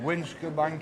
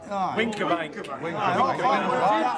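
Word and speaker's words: Wincobank: We went to the top of, how do you pronounce it? Winskabank Hill? Winkerbank.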